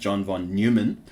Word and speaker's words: von Neumann: So this is John von Neumann, occasionally pronounced John von Neumann, and he was a Hungarian-American mathematician and computer scientist.